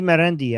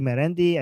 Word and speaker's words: Marandi: that we call Charandi Marandi. And again, guys, Charandi means like nonsense in Persian, which rhymes with his name Marandi.